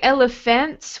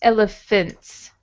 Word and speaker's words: elephants: Yeah, so it looks like elephants with this A here, but it's elephants.